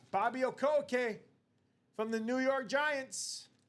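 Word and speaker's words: Okereke: Okier. Yep. All right. Bobby Okoo from the New York Giants.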